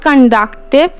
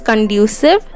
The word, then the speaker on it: conducive: And in case the situation is not conductive, then like the term 1, term 2 examinations will be held in the same way. If the case is not conducive, sorry I pronounced it wrong, it is conducive.